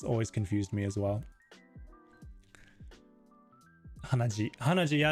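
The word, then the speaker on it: 鼻血: Hanaji.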